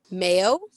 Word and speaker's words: Mayo: a pretty cool name Mayo yes like the condiment yes in fact so